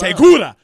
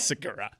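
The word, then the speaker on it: Segura: You You It's not pronounced Teula. It's Sigura.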